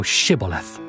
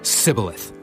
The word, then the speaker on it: Shibboleth: Then said they unto him, Say now Shibboleth. And he said, Sibboleth. For he could not frame to pronounce it right.